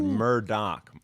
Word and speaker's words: Murdaugh: pronounced Murdoch.